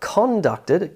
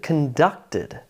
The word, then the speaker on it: conducted: It's not conducted, conducted. Important.